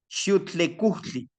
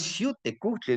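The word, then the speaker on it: Xiuhtecuhtli: Con los abuelitos, Xiuhtlecutli. Dice, no es Xiuhtecutli. Le digo, ¿pero por qué, abuelito? Pues es que cuando dice Xiuhtecutli, es que tú estás pensando como estos amigos que no pueden pronunciar el TL.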